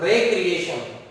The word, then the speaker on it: recreation: RECREATION, जब हम इस वर्ड को पढ़ते हैं रेक्रिएशन, तो इसका मतलब होता है मनोरंजन।